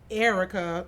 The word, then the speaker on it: Erica: Erica, pronounced Erica, traditionally spelled, is what I write at the top of my school papers.